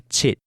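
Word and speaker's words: 七: After that, we learned that 7 is called chit, and 8 is bei. The number 9 is pronounced gao, as in gao jia gao, for 9 dogs.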